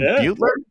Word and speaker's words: Beutler: Now by uh actually I didn't ask how you pronounced your last name Butler yep you got it perfect actually really well done